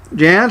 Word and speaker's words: Jahnz: guest today is a lead singer guitarist jans am i pronouncing your name right yes it is